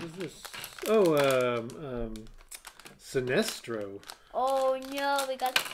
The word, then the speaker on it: Sinestro: not green what is this oh um um sinestro oh no we got the bad guy yep that's the bad guy for greenland that's sinestro i'm probably not saying his name wrong right